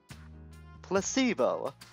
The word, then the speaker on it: placebo: vocabulary repeat after me placebo the stress is on the middle syllable splendid it's so charming